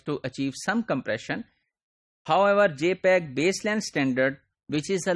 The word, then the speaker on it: JPEG: We use JPEG, J-P-E-G. This is pronounced as JPEG.